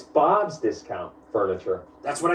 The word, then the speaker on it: Bob's Discount Furniture: just furniture up its Bob's discount furniture that's what I said Bob just got furniture you're putting the emphasis on the wrong syllable it's Bob's discount furniture as in get Bob's discount on furniture oh so by that